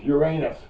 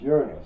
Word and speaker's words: Uranus: Next is Uranus, or as we used to pronounce it when I was a kid, it was Uranus. Yeah, okay, and we found out later. Oh, wait a minute. No, you're mispronouncing that. It's Uranus.